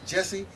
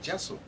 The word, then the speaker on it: Jessel: you're reading it and it's funny people would say uh Jesse or Jess just say what I'm saying Jessel all you have to